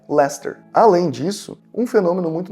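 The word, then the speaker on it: Leicester: Todas as cidades que terminam com Sester, eles pronunciam ster. Por exemplo, uma cidade bem famosa, né, que é LER. Se escreve dessa forma aqui, lacester.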